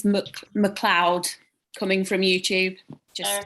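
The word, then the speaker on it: Macleod: i get i think the general consensus for the pronunciation is mcleod coming from youtube just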